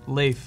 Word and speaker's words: Lafe: cool I stand corrected Lafe I'm sorry I said your name wrong rhymes with safe and to be present